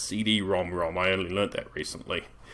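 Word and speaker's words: CD-ROM²: games on the PC engine side yes it's pronounced CD ROM ROM I only learned that recently anyway I should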